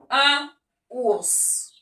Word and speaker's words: ours: Sus, ça veut dire en plus un ours.